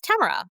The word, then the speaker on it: Tamara: Tamara walked out and introduced herself as Tamara, which rhymes with camera.